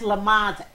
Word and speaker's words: Lamans: And that's Lamons, Lemons. Like Yeah. spelled like lemons. Reads like lemons, but it's so much more.